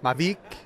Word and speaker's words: Mavic: brand marketing person for mavic wheels or is it mavik mavik mavic mavik if you're French yeah you pick so I've been saying